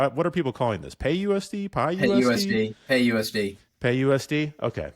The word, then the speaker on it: PYUSD: I've never heard I haven't heard anyone actually pronounce it so the ACT it's p-y-u-s-d so what what are people calling this pay USD pay USD pay USD okay that makes sense